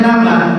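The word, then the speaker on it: لبن: lahan itu lab tapi kalau laban artinya susu dia bacanya laban dan sunah nabi meletakkan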